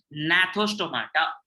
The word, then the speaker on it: gnathostomata: So when the organisms have jaws in their bodies, they are called gnathostomata. G is silent.